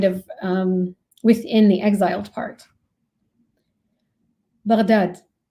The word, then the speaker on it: Baghdad: Baghdad, pronounced with a ghain, stumbling from the back of the tongue and the top of the throat, like a gentle gurgle